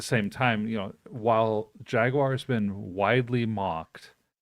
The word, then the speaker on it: Jaguar: taking all right Jesse you got to pronounce it correctly it's Jaguar Jaguar yeah I I did see that's how they say it on the commercial yeah so we'll we'll we'll uh yeah we'll uh pronounce it like the Brits um so I don't